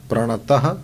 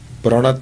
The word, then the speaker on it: प्रणत: दो दो डॉट्स रखना प्रणतः क्लेश नाशाय यह अशुद्ध हुआ। प्रणत क्लेश नाशाय आठ अक्षर लिखो तो इसमें कहीं स्पेस नहीं है। तो प्रणतः क्लेश नाशाय यह अशुद्ध उच्चारण है। प्रणत क्लेश नाशाय यह सही है।